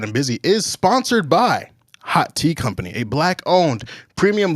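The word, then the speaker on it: haute: And hot is spelled H-A-U-T-E, not H-O-T, H-A-U-T-E.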